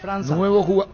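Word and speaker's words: França: Mateus Franca se pronuncia. Sí, Franza. Franza.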